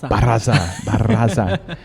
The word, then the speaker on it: Barraza: Barraza. Apologies there. I'm very notorious and for not asking how to pronounce things. Yeah, you need to practice rolling the R's before we get started. Jose Alberto Barraza.